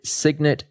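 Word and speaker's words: Cygnet: proprietary trading firm with a few partners called Signet Trading, which is spelled C YG NE T.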